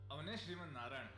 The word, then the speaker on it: ಅವನೇ ಶ್ರೀಮನ್ನಾರಾಯಣ: ಅವನೇ ಶ್ರೀಮನ್ನಾರಾಯಣ. That's how you pronounce it.